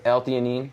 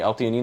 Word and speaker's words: alanine: for theine and another Eline El is a amino acid Eline oh okay alanine that's how you pronounce it alanine I've seen it on